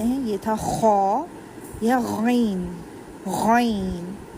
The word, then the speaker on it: غین: یہ تھا خا یا غین، غین، گین یا گ کا ساؤنڈ نہیں دینا. یہ اسکول والی الف بے کا گاو نہیں ہے، یہ ہم قاعدہ پڑھ رہے ہیں. یہ غین ہے، گین اس کو نہیں پڑھیں گے.